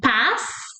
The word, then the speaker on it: paz: We add that E sound at the end in words ending with S or Z.